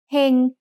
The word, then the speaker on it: เฮง: Heng has a low-class consonant with a live syllable ending, so it's mid-tone.